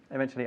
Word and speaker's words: eventually: Don't forget to pronounce eventually with a ch.